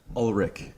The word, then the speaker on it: Ullrich: uh yeah so and how do you say your last name ulrich ulrich ulrich yeah ulrich it's german ford do you know